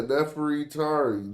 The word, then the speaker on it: Nefertari: It's Nefer-e. It's Nefer. Then they put the E, then the Ta, the Ra, and the E. Yeah, Neferitari. That's probably how she pronounced it. I mean, not pronounced it. But there is another E in there that we don't pronounce in English.